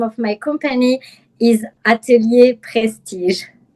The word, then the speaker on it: atelier: and I'm an image consultant and personal stylist and the name of my company is Atalier Prestige.